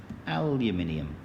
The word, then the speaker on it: aluminium: less to make aluminium notice the pronunciation aluminium well done so we've